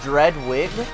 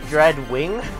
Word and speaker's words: Dreadwing: you know what's funny after saying his name dread wig i realize there's an n there and it actually reads dread wing so i've been saying his name wrong this entire time um like uh oh